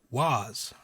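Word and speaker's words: Waaagh: unleash these things called was right was spelled w-a-a-a-g-h the silent G like yours truly oh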